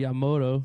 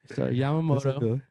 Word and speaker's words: Yamamoto: Yamamoto. At least I get his last name right. I used to say Yamoto. Yeah, that's true. Yamamoto.